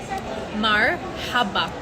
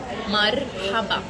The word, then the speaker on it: مرحبا: Marhaba. And then you can roll your R. Marhaba. Not marhaba. Marhaba. Can you guys say that?